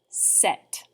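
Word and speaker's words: sept: last consonant was silent here the last consonant is pronounced but the p in front of it is silent so don't even let your face try to make the p sound imagine that it's not even there it's going to sound like this set as in i set my phone on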